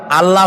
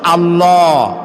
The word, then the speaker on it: আল্লাহ: আল্লাহর নাম আল্লাহ বলেন তো আল্লাহ নয় কিন্তু আল্লাহ হচ্ছে অশুদ্ধ শুদ্ধ হচ্ছে আল্লাহ বলার সময় মুখটা গোল হয়ে যাবে বলেন তো সবাই উচ্চারণ করেন আল্লাহ আবার বলেন আল্লাহ আবার বলেন আল্লাহ সুবহানাল্লাহ কি